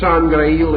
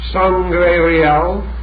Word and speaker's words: Sangreal: And the word Sangreil itself has 2 possible pronunciations which are very interesting. Sangreal, the blood of the king, and Sangreil, the holy cup.